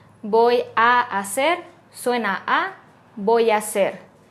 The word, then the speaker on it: hacer: a hacer suena a voy a hacer la a y la ha de hacer se juntan y suena como una sola voy a hacer vas a hacer suena vas a hacer vas a hacer va